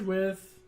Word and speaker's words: Wythe: It's because the guy's name was spelled with a Y and so on and so forth, and they just thought that President senile racist grandpa wouldn't be able to figure that out, so we're just going to spell it out, W-I-T-H.